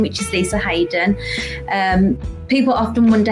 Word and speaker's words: Hayden: name which is Lisa Hayden um people often wonder how to pronounce that so it's uh you say it's almost like it's got the Y in but it doesn't have the yin so I live in